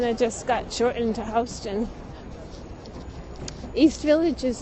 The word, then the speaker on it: Houston: We have a street that I walk on every day and it's pronounced Houston, even though it's spelled exactly the same.